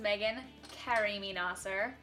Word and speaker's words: Meagan Karimi-Naser: My name is Meagan Karimi-Naser, by the way, is how you say it, and I will be playing the girl, female lead.